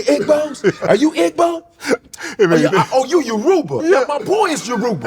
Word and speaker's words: Yoruba: You can mispronounce it once. And she kept doing it. And I was like, I'm sorry, I got to step in here. You're killing me. Yoruba. Yoruba.